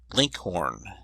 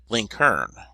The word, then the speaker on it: Lincoln: in Virginia and Kentucky his name was commonly pronounced Linkhorn and in Indiana link Hearn the usage was so